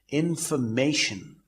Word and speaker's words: information: But the stress as far as information is concerned is at the 3rd syllable, that is MA, information. And in thermometer, it occurs at the 2nd syllable, thermometer. In motif, it occurs at the 2nd syllable, motif.